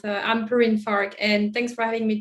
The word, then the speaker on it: Perrine Farque: struggle with my name so my name is perrine fark uh it's a french name i know it's quite difficult to pronounce uh i'm perrin farquh and thanks for having me today yeah so